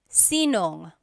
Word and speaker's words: sinong: If you have sino ang in a question, you might hear sinong. So they put it together.